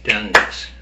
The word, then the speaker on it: tennis: uh speak good English I gave you an example of the word tennis in Japanese it's like 10 it's three three of uh three counts um but in English it's tenis okay so only if you say tenis tenis then people know what it is okay